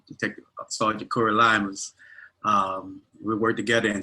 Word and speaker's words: Lymous: not it right uh my name is cory lima police department i've been there approximately 20 years